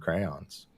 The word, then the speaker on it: crayons: The way you say crayons is not how I'm used to hearing the word crayons. Crayons? You say it like it's one syllable.